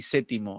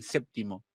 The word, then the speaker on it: séptimo: aquí me plantea algo la pronunciación de p se dice se relaja considerablemente en el grupo PT situado en el interior de la palabra pero solo es normal su pérdida en séptimo y septiembre o sea por más